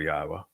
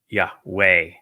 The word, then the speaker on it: Yahowah: spirit of reverence for Yahwa. He would never change God's name. He introduced God's name. He was the one who recognized that the proper pronunciation was God's of God's name is Yahwa not Yahweh.